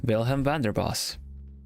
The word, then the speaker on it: Vilhelm Vanderbos: look though I believe how do you pronounce your name vilhelm thunderboss vilhelm Vander boss vilhelm Vander boss but you can call me